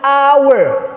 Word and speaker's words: hour: Dalam mengucapkannya hanya itu jadi hidden, tersembunyi, maka kita sebut dengan hour. Repeat after me. Hour, ya. Jadi bacaannya itu an hour. Hanya itu is not pronounced, tidak disebutkan, tidak diucapkan, ya.